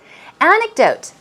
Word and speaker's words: anecdote: that word in mind anecdote stress goes on the first syllable an anecdote is what it's often